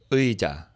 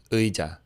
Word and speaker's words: 의자: 의, right? E mixed together. 의. It's a little like you have to put a little effort into your throat to move between those sounds, so it does take practice.